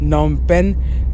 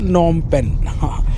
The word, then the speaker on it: Phnom Penh: की कैपिटल नम पेन अब हम सही बोलने लगे हैं नम पेन इसकी स्पेलिंग अलग होती है यह स्पेलिंग है पर इसमें पी साइलेंट है और उसमें एच साइलेंट है तो भाई साहब नम पेन बड़ी मुश्किल याद किया है।